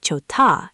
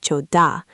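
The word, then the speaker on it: 좋다: This is why jota sounds like chota and not choda.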